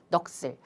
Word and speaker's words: 넋을: 넋을 같은 경우 볼까요? 을, 모음으로 시작했고요. 조사가 되겠습니다. 그러면은 시옷만 위로 올라가야겠죠. 선생님 그러면 넋을 아닌가요? 라고 생각하실 수 있겠지만 여기 보이시나요? 이 경우 시옷은 된 소리로 발음한다. 그럼 된 소리라는 게 뭐냐? 까, 따, 빠, 아이고, 빠, 싸, 짜. 쌍기역부터 쌍지역까지가 우리가 된 소리인데요. 이럴 때는 된 소리로 발음한다라고 했으니까 넋을. 사실 이 과정에서 어떤 것들이